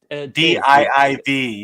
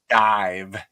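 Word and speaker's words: DIIV: it spelled more like d i v yeah yeah yeah yeah I have yeah and I used to call him div until I read something dive still spelled like div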